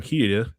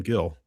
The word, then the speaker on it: Gil: We'll talk about Adrian Gill, which is not Adrian Hida, it's Adrian Gill. I feel like it's pronounced, or the Spanish pronounce him Adrian Hida because he grew up in Spain, born in Denver, grew up in Spain.